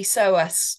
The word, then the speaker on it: psoas: So does the silent P psoas muscle Does the psoas muscle